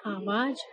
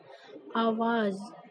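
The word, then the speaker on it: आवाज़: है, आवाज, जबकि आप लोग इसको बोलते हैं आवाज, और आवाज क्या होता है, गलत शब्द होता है ना, तो इसको हम लोग सही शब्द इसका क्या होगा, सही उच्चारण इसका होगा आवाज।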